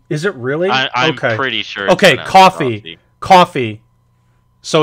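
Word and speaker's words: Ko-fi: particular episode of the podcast and oh it's pronounced coffee is it really okay okay coffee coffee so it's coffee got it so if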